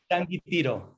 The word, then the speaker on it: Changuitiro: Born in 1976 in, how do I pronounce that? How do you say it? Changuitirio.